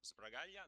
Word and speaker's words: Sbragaglia: So, I'm Braia, that's the pronunciation.